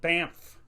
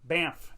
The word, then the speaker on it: Banff: saying it right but it's spelled weird it's b-a-n-f-f so the thing is that uh canadians are known to be very nice people but i'm always worried that i'm gonna run into one angry one like i say it wrong i'm like yeah i just went to banff and they're gonna be like what what'd you just call it you just call it banff it's not banff all right it's banff